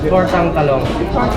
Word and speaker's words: tortang talong: Tortang talong.